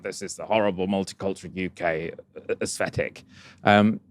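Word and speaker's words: Yookay: Now the UK um in this sort of concept is spelled Y O O K A Y.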